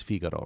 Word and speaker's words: Figaro: In Italian it's Figaro, right?